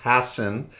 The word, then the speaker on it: Hassan: this prestigious conference and i just want to correct my last name is pronounced hassan and i am actually